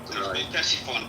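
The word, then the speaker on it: Ctesiphon: Tessifon.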